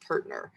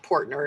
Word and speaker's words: Portner: His ancestors were the family, and he says it's pronounced Pertner. So it looks like Portner if you look at the spelling, but it's Pertner Park.